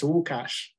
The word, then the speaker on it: Łukasz: So actually, it's Łukasz. Oh, wow, it's okay. Because I'm originally Polish, and it's L with a dash, and then you pronounce it differently, but here I just put it in the English.